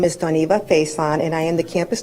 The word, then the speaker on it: Doniva Faison: Doniva, can you tell me the correct pronunciation of your name? Good morning. My name is Doniva Faison, and I am the campus director at KCC High School.